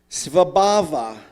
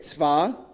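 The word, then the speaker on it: स्वभाव: It's pronounced svabhava. Does anybody know it? Svabhava. Let's say it. Sva-ba-va.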